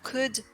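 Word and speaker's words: could: enfin dernier petit point pour coude chaude et wood le l n'est pas prononcé voilà c'est tout pour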